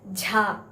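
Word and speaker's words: झ: stress to the vyanjan jha. This is a vyanjan ja. Casually we have to say, and this is a vyanjan jha. Some stress is coming. Stress is there whenever we pronounce the vyanjan jha.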